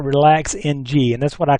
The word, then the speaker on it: RELAX NG: now it looks like relax ng and that's what I call it when you're looking at it it's actually pronounced relaxing it's an XML based